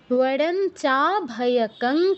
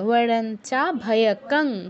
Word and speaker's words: বরঞ্চাভয়কং: বরঞ্চাভয়কং ক্রমাৎ, বরঞ্চাভয়কং, অনুসারে জায়গায় কী উচ্চারণ হবে? এই ও হসন্ত, বরঞ্চাভয়কং, কারণ পরে যে অক্ষরটি আছে ক, এর অনুনাসিক্য বর্ণ ঙ হসন্ত। মানে ঙ হচ্ছে আমাদের অনুনাসিক্য বর্ণ, আর অনুস্বার স্থলে উচ্চারণ হবে ঙ হসন্ত।